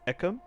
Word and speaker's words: Ekem: So it is Ekem.